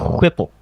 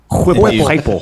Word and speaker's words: Heupel: It's pronounced Whipple. Whipple. Like you're blowing out a candle.